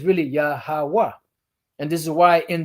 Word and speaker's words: Yahweh: The right syllables, but not the right pronunciation. So it's Yahweh.